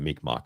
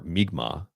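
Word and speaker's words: Mi'kmaq: the world that the Mikmach is from. The Mikmach or Migma perhaps it's pronounced Migma. Um are an indigenous group of people of the northeastern woodlands.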